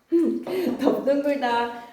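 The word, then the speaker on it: 넓둥글다: 넙둥글다, 넙죽하다. 그 다음에 3번 옆에 무슨 공간 있지? 거기에다 적고 가자. 이거 어떻게 발음해야 될까? 둥글다, 죽하다, 적하다처럼 다른 어근이 붙으면 항상 여러분 어떻게 발음이 된다고요? 비읍으로 발음하셔야 됩니다.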